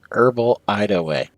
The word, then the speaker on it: Herbal Hideaway: it written wrong but i just put like parentheses around the h's so i'm like ah yes well the h's are still there they're just silent well yeah exactly that's